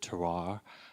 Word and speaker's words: terroir: the whole concept of terroir. I always mispronounce that word, but terroir.